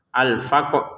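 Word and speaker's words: الفقر: Alfaqr. Qf-nya dipantulin dulu baru rnya kita sebutin.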